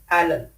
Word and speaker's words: island: Island, without the S sound.